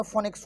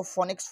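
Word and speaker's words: Phoenix: आएंगे उठके और बोलेंगे फोनिक्स फोनिक्स वो पी एच जो है ना उसके बाद ओ है तो पी एच के बाद जो ओ है ना वो ओ साइलेंट है तो फोनिक्स फोनिक्स मत करिए फिनिक्स है उसका नाम तो ये जो है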